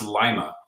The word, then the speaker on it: Lima: Yeah, it's pronounced Lima. Yep, like the bean.